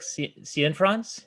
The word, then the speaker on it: Cianfrance: Derek Cianfrance, is that how you pronounce it?